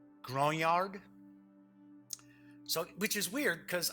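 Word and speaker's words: grognard: war gamers who are Grande yards isn't that the pronunciation Grande yard for years I've always said grog nard yeah well as I say English is my kind of well I treat English as if it's a second language but I believe the French pronoun French pronunciation has grown yard so which is weird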